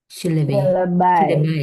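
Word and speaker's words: syllabi: Untuk jamaknya jadinya silaibai. Sileb jadinya, Guys.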